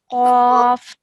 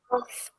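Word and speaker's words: ق: Yeah, so this is a thick sounding letter. So really round your mouth. Qaf. Qaf.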